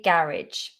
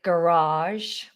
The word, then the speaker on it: garage: I say garage. I think in America they say garage, garage. They pull out that second vowel, garage, garage, garage, garage, garage.